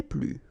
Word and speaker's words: plus: Okay, so keep in mind that I don't pronounce this final S here, so we get le plus, la plus, les plus.